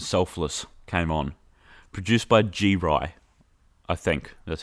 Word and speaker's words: G-Ry: Produced by G-Ry, I think.